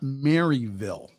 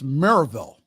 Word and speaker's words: Maryville: for Saturday at now it's not Maryville okay that's not how the locals pronounce it it's Merrillville Maryville if you pronounce it quickly Maribel at Maryville College